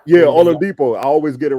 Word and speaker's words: Oladipo: Oladipo. Yeah, Oladipo.